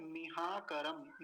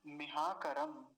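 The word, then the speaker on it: मिहाकरम्: और मकार पर ह्रस्व इकार है, जल्दी से ही बोला जाएगा, लंबा नहीं खींचेंगे, नहीं तो लंबा खींचेंगे तो कैसा बन जाएगा, न्यून मीहाकरम, मीहाकरम। ये गलत उच्चारण हो जाएगा। अब सही उच्चारण क्या होगा, मिहाकरम। और देखिए मकार पर हलंत है सबसे अंत में, इसलिए वहीं रुक जाएंगे, मिहाकरम।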